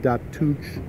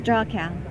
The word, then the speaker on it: Dachau: trip to and I'll have a hard time pronouncing it, but the Datuch. It's Dachau.